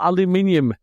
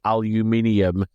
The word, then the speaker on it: aluminium: using metal on some of them um Al aluminium and that is the correct way of pronouncing it by the way aluminium yep yeah can ganged up on that one